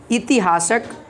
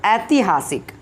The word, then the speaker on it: ऐतिहासिक: ऐतिहासिक, ऐतिहासिक, इतिहासक, है ना, ऐतिहासिक। तो जो सही उच्चारण होगा यहाँ पे ऑप्शन नंबर डी ऐतिहासिक होगा, है ना।